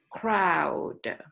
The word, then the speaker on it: crowd: But it is a bit more difficult for Thai people to pronounce fung chon. Crowd.